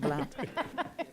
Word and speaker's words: Blount: Blount. As in The count.